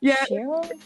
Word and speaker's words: Scherer: And I want to say his name right, Share? It's pronounced like Share, Share. But the spelling is Scherer.